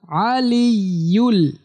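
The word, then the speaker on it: العلي: দেখেন বাংলা উচ্চারণ লাস্টের অংশটুকু আলিউল এখানে আলি বলতে হবে আলিউল আজিম ওয়াহু আলিউল আজিম ওয়াহু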